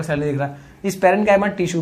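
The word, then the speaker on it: parenchyma: पहला है पैरेन्कीमा, किसकी मां? पैरेन्कीमा। दूसरा कॉलेन्कीमा, भाई पैरेन्काइमा, कॉलेन्काइमा, नहीं तो एग्जाम में भी गलत लिखोगे।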